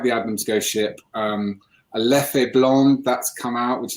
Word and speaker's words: Leffe: A Leffe Blonde that's come out, which is excellent. Or Leff, I should say. Leff, not Leffe. Get the pronunciation right, Leff.